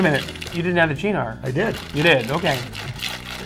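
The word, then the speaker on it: Cynar: Because it's from Italy. It's Gina. Italy, okay. Gina. Like ciao.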